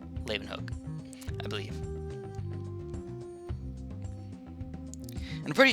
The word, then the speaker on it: Leeuwenhoek: know is Antoine von Leeuwenhoek. Leeuwenhoek. Hoek. It's spelled like H-O-E-K, and it's Hook. Leeuwenhoek, I believe.